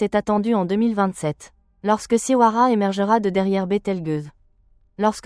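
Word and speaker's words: Siwarha: Mais les découvertes de 2025 et 2026 révèlent l'existence d'un compagnon stellaire nommé Siwara prononcé Siwara d'environ 1,5 masses solaires orbitant autour de Bethelgus en 5,7 à 6 années.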